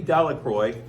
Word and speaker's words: Delacroix: It reads that Bobby and Harry Jones and Dickie Delacroix, the villagers pronounced this name Delacroix, eventually made a great